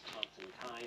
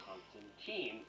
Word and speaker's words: Constantine: is actually pronounced as Constantine, like fine wine, but since the Keanu Reeves series, we've all been calling him Constantine, so there's that boy that was thrown at you.